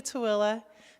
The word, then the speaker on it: Tooele: is okay so it's on the way to tooele who knows how to spell that okay and so um remember you're going